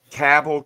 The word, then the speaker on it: Cabell: So the sample ballot for, and that's pronounced Cabell County, not Cabell or however the fuck else you were saying it. Cabell County, West Virginia. Right. Stop saying it wrong.